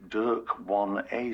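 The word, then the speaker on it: DYRK1A: this sounds cooler hey the recognized pronunciation is actually Dirk one A syndrome and it's interesting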